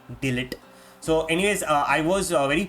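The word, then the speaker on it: de Ligt: it was um delete you don't pronounce it as Del H you call it delete so anyways I was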